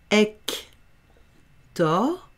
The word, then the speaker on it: Hector: Ici, c'est un H muet. Ah, j'ai encore oublié de le mettre en lettres muettes. On ne prononce pas le H. Donc, ça fait Hector.